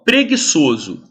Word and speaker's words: preguiçoso: aqui e que gu o u não é pronunciado então eu tenho duas letras para formar o som de gue Isso aqui é uma